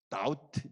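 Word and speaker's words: doubt: 두 번째는 다우트, B는 묵음이죠.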